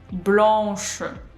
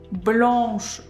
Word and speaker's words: blanche: First, we complete pronouncing nasal A sound, and only then we pronounce sh. Blanche, not blanche, blanche. No, we do blanc, pronounce, we go to sh.